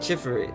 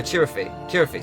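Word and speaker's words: Chirithy: Deadpool's created the Chiffy. Chiffy, is that how it's pronounced? No, Chirify, sorry, not Chiffy.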